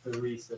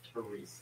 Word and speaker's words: Teresa: To pronounce her name, not Teresa, but Teresa. Teresa.